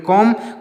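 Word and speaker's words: comb: सी ओ एम बी तो इसको पढ़ेंगे कम कम मीस क्या होता है कंघी कम मीस क्या होता है दोस्तों कंघी तो यहां पर जितने शब्द लिखे गए हैं इसमें बी साइलेंट है जितने भी शब्द हैं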